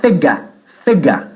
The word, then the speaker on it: figures: Figures se escribe figures, pero se pronuncia figa, okay? Figa, figure. The figures, ¿vale?